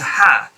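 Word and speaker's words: ح: what you do is put a bit of pressure against your heart and if you feel any vibration when you say yeah then you know you're saying it rightly if you're saying the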